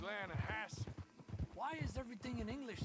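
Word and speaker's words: Lannahechee: The Lanahatchee. It runs right near here. Yeah, but it's pronounced Lanahassee.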